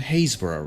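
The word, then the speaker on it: Happisburgh: and North Norfolk, there's this little village called Hazesboro, right? How's that spelled? Uh, H A P I S E. Spell it.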